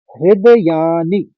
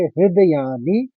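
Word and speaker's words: हृदयानि: बोलना है हस्व बोलेंगे दूसरे चरण में देखिए हृदयानी नी छोटी इ की मात्रा में है तो हस्व बोलेंगे हृदयानी व्य शब्द को तोड़ लेंगे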